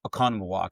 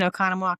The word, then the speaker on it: Oconomowoc: who's the reason I know how to say Oconomowoc, because that's where she's from.